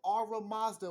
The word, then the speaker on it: Ahura Mazda: says once again, although Ara Mazda was the supreme god and family, you need to know these ancient names for these ancient energies way before Christianity came. Ara Mazda, and that's spelled Ahura Mazda.